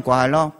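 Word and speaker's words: 快乐: 뭐라고 하냐면 신년 꽈러.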